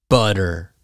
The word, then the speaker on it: butter: The T is a D sound. So waiter, waiter, waiter. Butter, butter. Do you like butter on your toast?